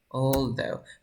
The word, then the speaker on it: although: Although. Practiquen la pronunciación. Se pronuncia así, mira. all. Luego esta TH es como though, although.